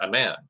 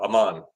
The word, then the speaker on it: Amman: Teams went inside a man. Oh, Amman. They went inside Amman, Jordan. I really got to work on my pronunciation of cities in the Middle East.